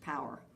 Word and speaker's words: PWR: in writing and rhetoric pwr for short pronounced power and so all the